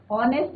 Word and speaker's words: honest: कि वो कैसा है, ऑनेस्ट है. तो ऑनेस्ट क्या है, यहाँ पे एडजेक्टिव है, और ऑनेस्ट के आगे हम क्या लगाएंगे, एन लगाएंगे, क्योंकि यहाँ पे एच इज योर साइलेंट.